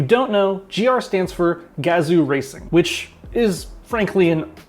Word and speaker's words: Gazoo: know gr stands for gazoo racing which is frankly an awesome name anything that rhymes with kazoo is good with me oh hi now gazoo